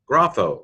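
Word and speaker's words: γράφω: Gamma rho alpha phi omega, grapho, I write.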